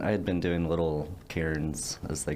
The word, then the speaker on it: cairn: had been doing little cairns as they call them c-a-i-r-n for is how you say karen i guess um but it's uh